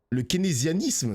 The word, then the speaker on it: keynésianisme: Le keynésianisme, ça se prononce comme ça.